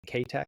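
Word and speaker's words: Keitech: Kek. That's how you actually pronounce it, but I'm just going to say kech.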